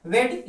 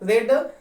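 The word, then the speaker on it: read: Third form क्या होता है, रेड, स्पेलिंग वही लिखी जाती है, पढ़ा जाता है, रेड बाई।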